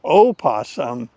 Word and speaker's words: opossum: So as a native English speaker, it's not a crazy idea that the O in opossum could be deemed silent. It isn't, but we could assume